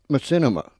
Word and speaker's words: machinima: Could you tell me what that I'm not even sure I can say it. Machinima animated movies. Yeah, Machinima. Machinima. Okay. Machinima. Is that how you say it? Yes.